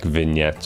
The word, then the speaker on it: vignette: what country it's from I just know it's not big net but it's spelled v-i-g-n-e-t-t-e um and it essentially tunnels it blurs the corners of the screen and I find it facetious like vignette yeah I kind of